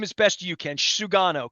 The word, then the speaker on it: Sugano: myself too here in the offseason if um pronounce his name as best you can sugano correct yes Tom Tomy Yuki sugano Tomy Yuki sugana I'm gonna work on that Sugar I'll call